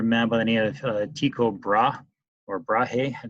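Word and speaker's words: Tycho Brahe: but I need a tico bra or bra Hey depends on how you want to pronounce that I've always been told it was Chico bra but the video I'm linking to says otherwise he disagree with Copernicus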